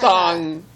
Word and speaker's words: thong: Husband, Tanga? Tongue. Oh, tongue. No, tongue, like a G-string. A tongue is like a G-string. It's like a little different. Tanga has Thong. a It's pronounced thong.